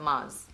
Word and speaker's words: Mars: Like, that's literally how you're meant to pronounce it, Mars. Like a Mars bar.